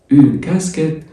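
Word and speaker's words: casquette: بعد كده قبعه يعني اون كاسكيت. اليو بعد الكيو ما بتتنطقش، والاي تي اي مقطع على بعضه بيتنطق ايه تبقى كاسكيت اللي هي كاسكيته.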